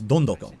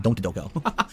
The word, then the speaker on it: Don Doko: It's Don Doko. That's how they pronounce it in the game, so I'm pronouncing it correctly. Not Don't Doko. Or Don't Go-Go.